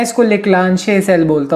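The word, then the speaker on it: Leclanché: अब इसको तुम कैसे प्रोनाउंस करते हो ये तुम्हारे ऊपर है। मैं इसको लेक्लांशे सेल बोलता हूँ, अब बाकी तुम्हारी मर्जी।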